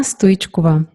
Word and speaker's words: Stoichkova: It's Stoichkova.